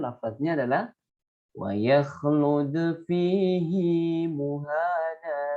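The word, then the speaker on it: مهانا: adalah wa yakhlud fihi muhana. Nah, ini tetap dibaca panjang. Ini ada tanda ya kecil di sini yang seperti cacing menurut. Jadi bacanya panjang.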